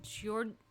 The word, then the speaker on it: Giorgione: So then we have Giorgione?